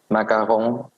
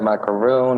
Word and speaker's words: macaron: it would be the pronunciation would be like macavon yeah but i don't get offended if people call it macaroon if they call them